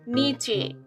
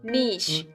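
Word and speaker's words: niche: इस वर्ड को बोलते हैं, अगर हम खुद से देखें तो हम बोलेंगे नीचे। हम गलत नहीं, नीचे ही है ये, लेकिन सही प्रोनाउंसिएशन है इसकी नीश।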